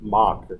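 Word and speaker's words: Moq: so I I think of like who uses mock I I don't even know how to pronounce it am I pronouncing it right but is mach okay Mach is correct Mach okay who uses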